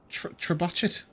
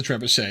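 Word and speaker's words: trebuchet: a four dwarf catapult they called it a trachet uh on the uh that's purposely her in mispronouncing it by the way um I I'm aware it's a Treet she is not she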